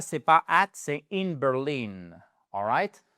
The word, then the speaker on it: Berlin: She lives in Berlin. Berlin, Berlin, the stress is on the second syllable, all ?